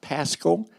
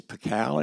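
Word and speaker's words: Pacalé: a man named Eve cow p-a-c-a-l-e that's not Pascal his name is pikal is pronounce pacao he was born in 1736 born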